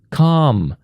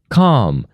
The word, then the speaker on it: calm: For example, you say word calm, calm. You see we cross out L here.